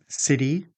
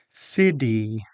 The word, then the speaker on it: city: Flap T usually appears when T becomes between two vowel sounds and the T is an unstressed syllable. Some examples are water, city, computer, better, pretty, meeting.